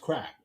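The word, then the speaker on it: craic: Yeah, but it's pronounced crack.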